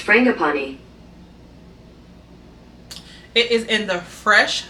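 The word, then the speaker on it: frangipani: family it has fram hey google pronounce f-r-a-n-g-i-p-a-n-i that's pronounced frangapani it is in the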